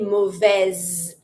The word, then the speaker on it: mauvaise: Always pronounce the letter that is before that feminine mute E. But, because I'm going to pronounce it, the S is between two vowels, it's between the I and the E. So, I'm going to say mauvaise. That's the Z sound.